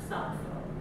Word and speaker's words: Sappho: Sappho, as her name is transcribed, isn't even how she would have pronounced it in the dialect of the island. It's a C instead of a sigma at the front, Sappho.